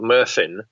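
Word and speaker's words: Myrddin: prince of strass slide called murphen which is how um the welsh spell merlin and how they pronounce it um and he seems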